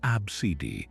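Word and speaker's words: ABCDE: into a simple sequence of letters pronounced abcidi.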